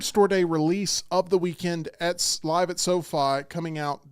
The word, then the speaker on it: Weeknd: The Weeknd. Ladies and gentlemen, Wow. The Weeknd.